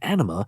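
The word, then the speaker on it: Ænima: releases speaking of animal which is how the band has pronounced it it is a combination of two words Ana spelled without an e and enema now I don't think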